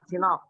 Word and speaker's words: CNOOC: 2007 di Konok CNOOC itu bacanya apa, Pak? Iya, CNOOC, Pak. China National Offshore Oil Company. Sinop, Pak. Sinop.